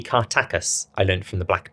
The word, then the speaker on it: Kartakass: This one is set in Cartacus, although I think the pronunciation might be Kartakus.